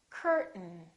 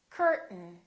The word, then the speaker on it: curtain: say but mm but don't say curtain say curtain curtain one more word don't